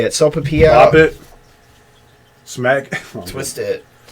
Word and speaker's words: Sopapilla: Sopapilla. Pop it. Smack. Twist it. So, a Sopapilla is like a pastry, basically. It's made by the 903 Brewers, which is a brewing company. It's honey pepper and Sopapilla flavored cream ale, 6.5% alcohol.